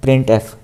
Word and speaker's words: printf: ही करवा सकते हैं the function प्रिंट एफ is pronounced as प्रिंट एफ कि इसको कैसे है प्रिंट एफ तो यह पढ़ने का